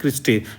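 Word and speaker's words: cristae: मतलब की आप इसको जैसे प्रोनाउंस करना है क्रिस्टे कहते हैं इसको। ठीक है? क्रिस्टी कह कह सकते हैं इसको आप। सी आर आई सी आर आई एस टी ए ई।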